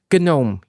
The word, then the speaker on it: GNOME: So I just want to pause here and say, yes, it's pronounced GNOME, even though it's spelt gnome with a silent G, you know, like little pointy-hatted guys that sit in British gardens.